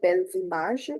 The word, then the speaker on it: Belles images: Clicking liaison is there, so Belles images, H-E is age, S we don't sound.